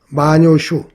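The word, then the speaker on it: 万葉集: 일본의 마녀집이라고 있는데요. 마녀슈 우리 발음으로 만엽집 그 마엽집에 실려 있는 그 5천 수가 넘다 그래요.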